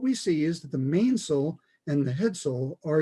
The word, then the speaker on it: mainsail: mainsail off of that pronounced a main sole it's going to have